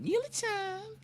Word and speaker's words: Neely Time: And that's where I kind of developed the name Neely Time, which is pronounced like Neely Time when I got on radio.